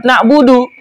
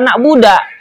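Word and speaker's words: نعبد: Demikian pula orang yang salah membaca Fatihah tadi yang tidak mengubah makna, seperti memfatahkan dalnya lafaz na'budu. Harusnya iyyaka na'budu, dia bacanya iyyaka na'buda. Salah dari harokatnya.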